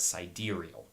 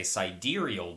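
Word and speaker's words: sidereal: first one is siderial it's spelled out like side real s i d e re e a l i always heard it as pronounced as siderial and then there's also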